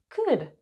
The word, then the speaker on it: could: Could. Notice the L is silent.